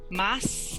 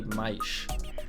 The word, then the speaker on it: mais: A gente não fala mas, a gente fala mais. Mais. We don't say mas, we say mais.